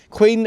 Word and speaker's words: Quinn: were the Quinns and it was spelled q i n n the way you would expect but they pronounced it Quin because there's some records that where it's written down as Queen so obviously they've said